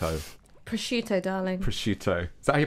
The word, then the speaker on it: prosciutto: it's problematic that people chose gammon and not prosecute Oh prosciutto darling prosciutto so he pronounced it was she said a hammer I